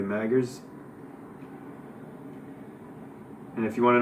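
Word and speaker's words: Magrs: stardust and snow by paul m-a-g-r-s maggers i don't want to be disrespectful and mispronounce it so it looks like it's probably maggers and if you want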